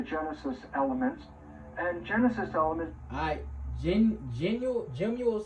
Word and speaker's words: gemmule: Gemule sounds like the word gem and jewel put together.